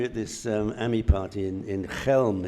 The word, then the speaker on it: Chelm: Yeah, when we were at this AMI party in Chelm, it's C-H-E-L-M, but pronounced Chelm.